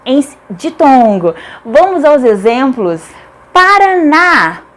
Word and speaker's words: Paraná: Paraná, Paraná. A última sílaba é tônica, portanto é acentuada porque é uma oxítona terminada em A.